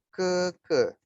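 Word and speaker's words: 哥哥: Nah, seperti yang Lause sudah jelaskan di awal, walaupun ini tulisannya gege, tapi kita bacanya keke.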